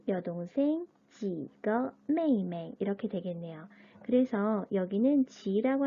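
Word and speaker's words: 妹妹: 첫 번째 여동생이란 단어가 나왔는데 가족 호칭을 이야기할 때 동일한 한자를 두 번 반복하고 뒤에 나와 있는 이 그 발음 같은 경우는 경성으로 읽는다 라고 말씀을 드렸었죠. 여동생 메이메이, 메이메이라고 합니다.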